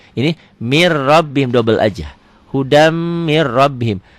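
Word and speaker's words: هُدًى مِنْ رَبِّهِمْ: Hudam mir rabbihim. Tulisan dan bacaan beda. Tulisannya hudan min rabbihim, dibacanya hudam mir rabbihim.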